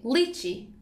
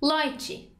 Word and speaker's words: lychee: go la vidura 55 it has two pronunciations you can say lychee or light G lychee or like G I'm taking minute business